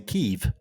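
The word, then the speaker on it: Kyiv: a year ago and everyone on the news is saying kiev kiev the way you'd say it in in in russian and then they pulled a little uh i know this was this is an information operation uh everyone now is pronouncing keeve like k-e-e-v kiev i'm like what the hell like well that's how the ukrainians pronounce it well yeah yes and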